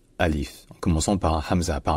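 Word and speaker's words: ألف: l'alphabet elle est appelé Alif Alif attention il n'y a pas de a long ni de il long c'est juste Alif en commençant par Hamza par un coup de glotte Alif en revanche donc au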